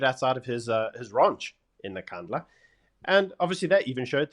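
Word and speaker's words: Nkandla: I mean, they even had a a van set on fire and some process outside of Nakandla.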